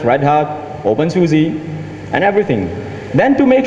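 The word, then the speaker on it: openSUSE: you say something bad I'm just going to pronounce it for you it's open Suzie oh okay cool I've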